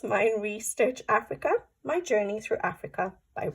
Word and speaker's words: Meine Reise Durch Afrika: I know no German, but I think it's Meine, Reise, Durch, Afrika.